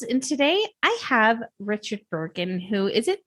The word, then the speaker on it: Burgin: Everybody wants to pronounce it like a J, but it's a hard J.